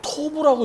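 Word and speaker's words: טוב: 선이 이것은 히브리어로 토부라고 읽습니다.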